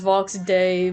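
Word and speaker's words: Vox Dei: I know it's pronounced Vox day, but I love saying Di cuz Vox is a DI.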